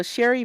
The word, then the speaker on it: Sherri: So Sherry, and that's spelled Sherri. Just like Sherry Shepherd.